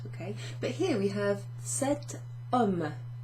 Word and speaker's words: cet homme: But here we have cet homme. So it would be difficult to pronounce. Ce homme, ce homme, ce homme. So we add a little T in there to make it easier to pronounce.